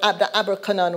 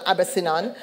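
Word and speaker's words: Abercynon: I mean, nobody cared about the fact that I couldn't pronounce. I didn't know what Abercanon was not Abercinon.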